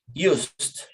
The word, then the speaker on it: used: So in past tense, we pronounce it with T at the end. Used.